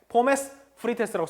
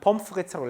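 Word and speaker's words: Pommes frites: 이렇게 포메스 프리테스라고 써있지만 우린 펌프리츠라고 읽게 되고 일반적으로 독일에서는 이 앞부분 포메스만 가지고 쓰게 된다는 걸 참고로 말씀드렸죠.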